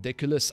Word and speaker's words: Deculus: that has to do with louisiana madame diculus i pronounced your name correct i hope yes you